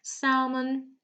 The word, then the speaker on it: salmon: So I'll just give you a few more seconds to tell me which letter is silent in each of the words, okay?